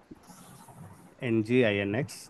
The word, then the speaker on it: nginx: For now, it's apt get update, apt get install, nginx. This is pronounced as nginx.